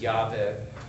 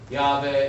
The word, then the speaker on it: Yahweh: In fact, the name of the Hebrew god, Yod-Heh-Vav-Heh, pronounced Adonai in traditional circles, but most likely pronounced as Yahweh, also sometimes comes out as Jehovah, depending on who's doing the telling.